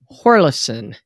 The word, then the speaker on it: Hjorleifson: it that was eric horlison uh i guess the j is silent actually he told me